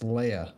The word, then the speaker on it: Lija: last name lija uh in the Polish pronunciation which is most of my nationality I got a few others in there but mostly polish it's pronounced Leia like Princess Leia so I was thinking